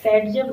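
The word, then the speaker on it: Zaitsev: या फिर आपको एक सेटजेव रूल आता है, ठीक है, उसको जेट्सो, अलेक्जेंडर जेट्सो ने उसको बोलते हैं, प्रोनाउंस करते हैं उसको सेटजेव रूल।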